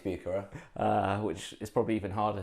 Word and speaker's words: Bucherer: I thought it was Bucherer, I thought it was Bucherer, but apparently it's Bucherer.